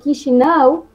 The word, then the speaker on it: Chișinău: Sí, mira, esto que está por aquí, Chișinău, se pronuncia, es U que viene de la letra A y se pronuncia U. Piensa que tú estás pensando en algo y no te acuerdas. Así, que, así se pronuncia, ¿sí?